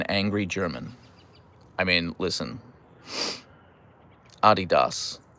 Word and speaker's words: Adidas: No American says Adidas. We say Adidas.